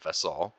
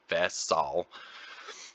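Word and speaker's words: vesall: more in depth so here's a word vessal and that that's how you pronounce it vessal I mean I don't have an accent when I say but how you say it is VES Sal vesal and so it's an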